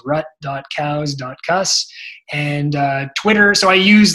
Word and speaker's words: Rutkauskas: grants for couscous comm my Instagram is how you pronounce my last name it's rutkowska and Twitter so I